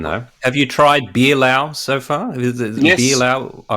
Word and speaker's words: Laos: Laos, Pretty am I pronouncing good. that right? Yes, it's Laos with the Lao people.